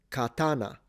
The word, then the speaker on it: katana: Either katana kana. So na is low.